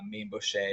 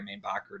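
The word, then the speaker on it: Mainbocher: They were designed by Mainbochet or Mainbacher, depending on how you pronounce it.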